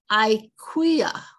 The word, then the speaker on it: Akua: This is Akua, A-Q-U-A, Akua. And here, A-K-U-W-A-H or A-K-U-A is Akua. So there's different pronunciations even in their native language, their first language.